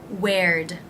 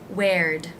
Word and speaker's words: where'd: with the word where when you add the apostrophe d you simply add the d sound at the end where'd where'd where'd it go why